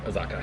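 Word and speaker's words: Azacca: Azaka.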